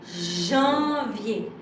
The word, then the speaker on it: janvier: So, right now, this is janvier. So when you try to tell it, please, you have really to concentrate very early and try not to pronounce loudly the D.